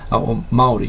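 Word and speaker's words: Māori: school that was predominantly Maori Maori if you pronounce it correctly but again it was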